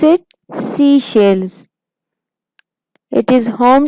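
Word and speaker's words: Seychelles: Pronounce it. सीशेल्स.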